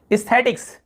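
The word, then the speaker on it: aesthetics: फिर देखिए एस्थेटिक्स, एस्थेटिक्स यहां पर भी ई उच्चारण हो रहा है, ए लिखा हुआ है, एस्थेटिक्स यानी होता है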